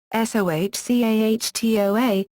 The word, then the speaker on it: SOH-CAH-TOA: For instance, a mnemonic is SOH-CAH-TOA: One way to remember the letters is to sound them out phonetically (i.e., SOH-CAH-TOA, which is pronounced 'so-kə-toe-uh' /soʊkəˈtoʊə/).